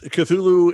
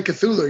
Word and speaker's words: Cthulhu: you have a Kickstarter going uh that is cthulu invades odds am I saying that properly correct yeah cthulu invades Oz that is the proper pronunciation of cthulu you know I always thought